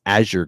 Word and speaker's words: Azure: you know fixing uh how I was saying azer to Azure it's Azure gray not Aur gray so thank you for